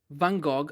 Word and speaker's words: Van Gogh: I was reading this book, The Letters of Vincent van Gogh. I'm going to pronounce it like Italians pronounce it, Van Gogh. I know it's not the right way.